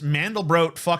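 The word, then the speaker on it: Mandelbrot: of the mandal BR set and it's actually pronounced mandal bro by the way but a lot of people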